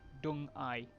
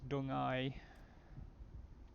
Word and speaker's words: Deng Ai: Now that's how Pinyin is pronounced. D-E-N-G-A-I. Dung Ai. I mean, that's as close as I can get.